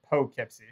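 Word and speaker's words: Poughkeepsie: I was born there it's like do right it's like Po Kipsy yeah yeah yeah no it's got the dough in it and um yeah know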